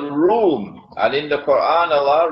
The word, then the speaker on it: روم: It is pronounced as R-O-O-M, Room, but the Arabic word Room is, it describes Eastern Christianity.